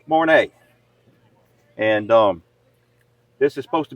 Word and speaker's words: Mornay: How you pronounce that, Barry? Mornay. Mornay.